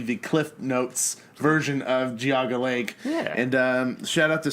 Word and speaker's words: Geauga Lake: actually we had mentioned guinea lake we said guinea lake and because we started saying hey hey hey that's was my home park that's not how you pronounce it and he said